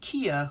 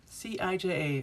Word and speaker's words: Cija: It's Kia, like the car. Cija. It doesn't, yeah, you wouldn't think it would be pronounced that way.